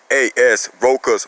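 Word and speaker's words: Rochaas: You can use that C like a K. So it's R-O-C-H-A-A-S, Roka's muscle.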